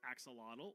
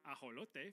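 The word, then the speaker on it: axolotl: You've probably been saying this as axelottle or aote for my Spanish speakers, but it actually comes from the nawat language. So it would be correctly pronounced as aot.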